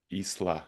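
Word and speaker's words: Ixtlan: is called Journey to Isla, if I remember. It's written in like IXTLA, but it's spelled like Isla.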